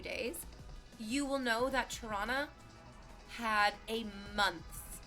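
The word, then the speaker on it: Toronto: and I've lived in toron that's how you say it guys do you do not pronounce the second T not pronounce the second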